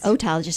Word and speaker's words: otologist: know a little bit better than an otologist otologist and you're saying you're saying it right the